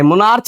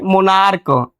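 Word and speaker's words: monarch: तो इस मोनार्क है, मोनार्च नहीं कहेंगे इसको, इसको क्या पढ़ेंगे, इसका प्रोनाउंसिएशन क्या करेंगे? मोनार्क।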